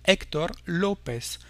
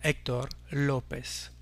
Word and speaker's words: Héctor López: le O pour dire Héctor López, en portant l'accent tonique ici sur les premières syllabes, mais jamais sur les dernières, donc des noms et des prénoms en espagnol. Héctor López.